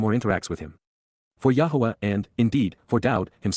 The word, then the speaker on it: Yahweh: blessings are reciprocated by the association with death Yahweh Yahweh the proper pronunciation of the name of eloah God as